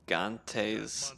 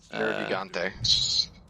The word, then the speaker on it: Nergigante: Nergante's Nergigante.